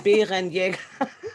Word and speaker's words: Bärenjäger: we speak in the throat. So, Okay. the Germans, and yeah, it's a little hard to say, but it's Bärenjäger.